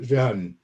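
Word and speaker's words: 仁: It's pronounced ren in Chinese, and this is pronounced.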